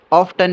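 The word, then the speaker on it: often: ऑफन की जो pronunciation है ये आप उसे ऑफ्टन भी प्रोनाउंस कर सकते हैं और ऑफन भी प्रोनाउंस कर सकते हैं।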